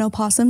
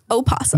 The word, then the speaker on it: opossum: thing I follow an opossum named mushroom and he's adorable why are we pronouncing this silent oh and possum an opossum well I follow this